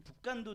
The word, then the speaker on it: 북간도: 북한도? 발음이 좀 발음이 아니라 이상한데? 북한도? 예, 맞아. 북간도입니다. 우리 윤동주의 고향 그 교회가 청산리 전투를 막 지원했던 그 북간도 지역으로 이주하게 됩니다.